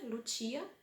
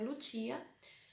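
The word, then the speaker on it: Lucia: Aí depois a Lutia, né, que foi minha primeira filha, Lutia, mas no Brasil se escreve Lúcia, mas aqui em italiano é Lutia.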